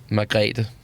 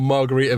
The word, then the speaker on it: Margrethe: And their first name? Margrethe. Right. Margrethe Vestager. I would have gone Margarita Vestager.